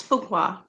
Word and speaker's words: Fuqua: to be here you you pronounce my name correctly it's fuqua okay well thank you